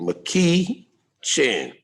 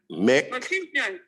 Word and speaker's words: McEachin: McEachin. I'm gonna sound it out. Wait a minute. That woman, Papa had it. I always had Papa his name. Okay, go ahead. Okay, Mick, like Mickey Mouse, Mick.